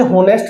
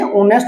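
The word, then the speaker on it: honest: लेकिन आप लोगों ने पढ़ा कि भ ये होनेस्ट नहीं होता। क्या होता है? ये ऑनेस्ट होता है। इसमें हमारा क्या होता है? ओ साइलेंट होता है।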